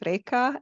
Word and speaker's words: Reka: it's short but not easy so I can spell it R e k a Rea and my surname is there